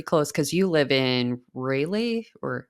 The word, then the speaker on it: Raleigh: So, pretty close because you live in Raleigh or It's Raleigh. Yep. Raleigh. I'm so sorry. I always Oh mispronounce it.